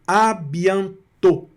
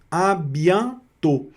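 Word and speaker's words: à bientôt: Nesse caso aqui, o o com o circunflexo vai pronunciar também como se fosse eh fechado mesmo, igual no português aqui no O, tá certo?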